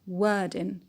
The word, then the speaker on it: wording: Wording, wording, the stress on were, wording.